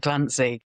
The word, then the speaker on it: Glancey: Tis Glancey, is that how you say it? Yes, it is.